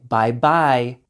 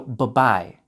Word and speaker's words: bye-bye: But kids tend to pronounce the word very correctly, to overpronounce it like bye-bye. For adults, for it to sound natural, only pronounce the B in the first bye. So bye-bye, bye-bye, bye-bye.